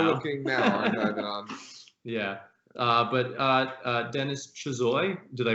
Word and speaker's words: Chuzhoy: But Denis Chuzhoy, did I pronounce it correctly? Chuzhoy.